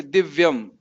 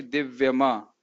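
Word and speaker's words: दिव्यम्: लेकिन जहां कभी जैसे दिव्यम, अगर माँ में हलंत नहीं लिखा होता तो क्या बोलते? दिव्यमा, दिव्यमा। लेकिन दिव्यम है क्योंकि इसमें हलंत लगा है, तो इस प्रकार से उच्चारण करना।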